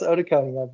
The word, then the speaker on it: otoconia: It's pronounced otoconia, but basically, instead of it's OTOCONIA.